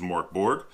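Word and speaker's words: Mörk Borg: you in the book so I'm gonna go with how we would pronounce it in English which is Mark Borg and this is a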